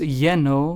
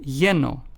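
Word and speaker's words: lleno: in Spanish as in they both have the ye sound found in the English word yellow for instance let's take the words yeno which means full in Spanish is pronounced as yeno then we have the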